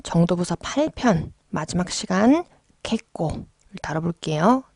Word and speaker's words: けっこう: 부서 8편 마지막 시간 개 꽁 다뤄 볼게요 자 이거는 발음 하실 때 뒤에 장음 좀 주의해 주시고 캣 코 자음 이기